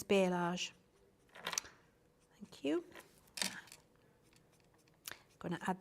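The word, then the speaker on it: balayage: darker bit like a i can never pronounce it is it a bellage or how do you pronounce that you know the fancy hairdo where they've got all of the ombre hair colour it's bialage thank you i'm gonna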